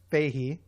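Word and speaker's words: Feige: Kevin, he said his name is pronounced Fahey.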